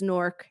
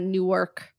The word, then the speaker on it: Newark: But yes, if you want to blend in, it is Newark. It is not Newark.